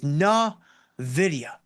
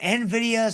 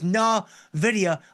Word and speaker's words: Nvidia: The correct way to pronounce this company is Nvidia. N like n uh video, right? But I hear Nvidas and all kinds of other crazy things. It is Nvidia.